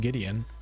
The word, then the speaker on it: Gwydion: Apparently it's pronounced Gideon, even though it seems like Gwydion to me, and send him home.